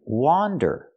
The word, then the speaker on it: wander: don't let your mind wander wander use a different sound use the a sound the open a like hot and stop W wander don't let